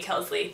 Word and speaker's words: Kelsley: name is Wellesley, and it's not spelled the same way, but it's pronounced the same way, so that's really ultimately why I believe that they named me Kelsley, to be something similar to my other family members.